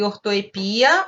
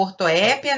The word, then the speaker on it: ortoepia: A nossa aula de hoje é sobre ortoepia, ou ortoépia, né, e prosódia.